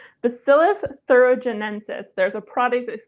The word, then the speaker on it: Bacillus thuringiensis: Bacillus thuringiensis. Bacillus thuringiensis.